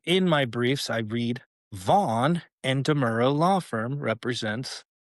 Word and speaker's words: Vaughan: And the deputy district attorney that dismissed the criminal investigation is named Andrew Vaughn, and it's spelled Vaughan, not just GHN.